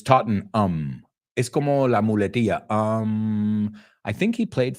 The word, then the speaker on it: Tottenham: next term wrexham now Americans a lot of time we pronounce that ending ham like you guys Tottenham but it's taught in um um I think he